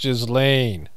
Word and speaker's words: Ghislaine: It's pronounced Ghislaine.